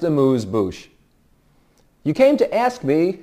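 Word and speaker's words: amuse-bouche: You know, it's not pronounced abuse bush. It's pronounced amuse bouch.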